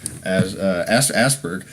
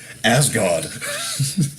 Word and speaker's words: Asgard: And Asperg. Asperg. How you mispronounce it. We got to get you back to Asperg. Asgard.